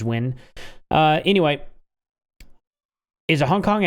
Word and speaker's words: Nguyen: Nguyen or something like that is Win.